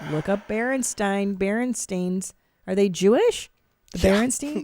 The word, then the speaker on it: Berenstain: bears berenstein bears right i think we think it's called berenstein bears but it's actually bear steam bears nothing like berenstain berenstain yeah oh christ all right look up berenstein berenstains are they jewish the